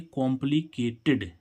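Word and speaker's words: complicated: में आ गया होगा देखो क्या किसी वर्ड के अंत में टा या ड आए और उसमें उसमें हमें डी आईडी जोड़ जोड़ना होता है तो उस डी आईडी को हम क्या पढ़ते हैं इड पढ़ते हैं सिंपल सा रूल है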